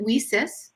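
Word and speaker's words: WiCyS: our acronym leases w-i-c-y-s we pronounce it we sis like we sisters because that's exactly what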